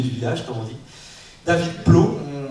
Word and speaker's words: David Blough: David Plot, on prononce comme ça parce que d'origine américaine, c'est ça, je viens